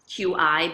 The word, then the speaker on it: QI: a new framework, and I called the skills key skills, QI, but pronounced like KEY.